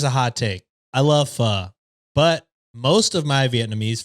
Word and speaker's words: pho: That makes foe in my my brother. mind. Fucked up that pronunciation. That's fine. That's fine. But that's the title. Okay. You know what? Here's a hot take. I love pho, but most of my Vietnamese friends say pho